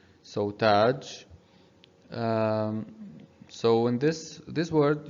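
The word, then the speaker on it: تاج: in this this word you should know how to pronounce it because you already know all these of these three letters ta and alif and jim taj and why we are only elongating the sound of ta here we are elongating the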